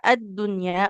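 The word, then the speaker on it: الدنيا: Tapi di kata ad-dunya ya, ini juga sempat pernah ada yang bertanya ya. Karena kalau untuk di kata ad-dunya itu pengecualian tidak jadi idgham ya, tapi jadinya izhar.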